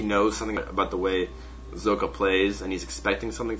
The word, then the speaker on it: Socke: Listen to Caldor play it or say it on YouTube and say it one more time. Zocke. Alright, good. Caldor is a German man, and Zocke is a German player, so I felt like Caldor would be the best person to rely on for the correct pronunciation of this player's name.